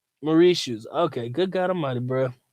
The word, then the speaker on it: Mauritius: that's what's up so my man says it's pronounced Mauritius Murray shoes ok good God Almighty